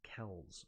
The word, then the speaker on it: Kelce: I mean, you can pronounce your name how you want, but the name Kels goes back to the centuries. It's Kels. Okay, I don't care. If they pronounce it Kelce, wouldn't it be Kelce then?